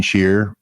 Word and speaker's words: Scheer: Gene Shear, and it's spelled SCHEER, EER, Gene Shear.